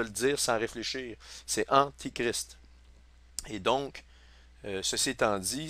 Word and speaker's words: antichrist: Oui, toutes des il faut vraiment je fasse attention à ma prononciation. C'est antichrist qu'on m'a bien expliqué puis je suis d'accord avec ça. Mais donc prenez pour acquis que si je dis antéchrist, c'est antichrist que je veux dire.